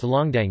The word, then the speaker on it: 弄堂: Each residence is connected and arranged in straight alleys, known as a longtang, nongtang pronounced longdang in Shanghainese.